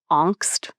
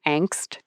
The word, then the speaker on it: Angst: What we're talking about is something that, the German philosophers would call Angst or Angst in English, the pronunciation.